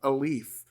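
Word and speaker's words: Alief: metro area but he's specifically from a leaf not spelled like a a l e a f but a l i e f right all right let's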